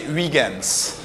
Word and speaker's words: Huygens: Huygens, do I say it correctly? In French we say Huygens.